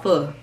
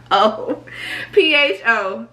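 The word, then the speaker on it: phở: And for the pho, and people call it pho. It's not pho. It's not pronounced pho. It's called pho. P-H-O, pho.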